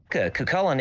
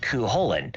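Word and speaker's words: Cú Chulainn: Cuchulainn is technically mispronounced in the series, being closer to Cuchulainn, as audible in the following reading from Irish Myths by Ronnie Drew via YouTube.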